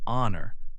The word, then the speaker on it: honor: Other words with a silent H are honest, say onced, and honor, say honor. These words begin with H, but the H is silent.